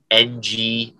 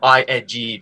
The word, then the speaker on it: Ng: You should have ING because that's how you're pronouncing it, Ing."